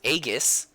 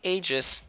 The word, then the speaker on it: Aegis: amiibo of Aegeus here I know it's pronounced agus the word but in the dubbing to persona 3 they say Aegis so take that shitty